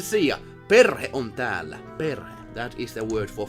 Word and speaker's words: perhe: Perhe.